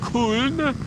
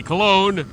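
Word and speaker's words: Köln: October motorcycle show in k I'm trying to pronounce that closer to the German pronunciation in America we'd probably say Cologne anyway the German motorcycle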